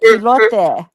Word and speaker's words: elote: Oh, and it is pronounced elote.